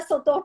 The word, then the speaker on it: sotor: E era sotor para cá, sotor para lá, e aí o professor bem que explicou isso. É a contração de senhor doutor. Não se escreve dessa forma, mas se fala.